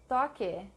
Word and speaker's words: toque: So if you see toque with QU replacing the C, it is to maintain the K sound.